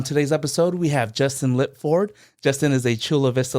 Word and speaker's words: Lipford: On today's episode, we have Justin Lip Ford.